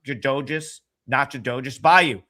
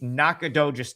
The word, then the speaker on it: Nacogdoches: I don't even know why I'm gonna try to say it, but it's not Jadojus Bayou. Spell it out for me phonetically in the chat, please. I know you can do that. It's Nacogdoches, Texas.